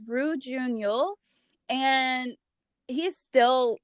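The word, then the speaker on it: Ryu Jun-yeol: And I always have the hardest time pronouncing his name, but it's Roo Jun-yeol.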